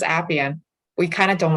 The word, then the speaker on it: Appian: Yes, it's Appian. We kind of don't like it when people go Appian, but it's Appian.